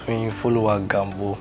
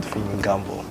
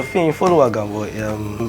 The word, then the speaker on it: Fiyin Gambo: All right, my name is actually pronounced Fiyin Gambo. That's how my name is pronounced. But because of branding, in school, we got that Fiyin Gambo. Actually, it's not pronounced that way. Yeah, so Fiyin Gambo.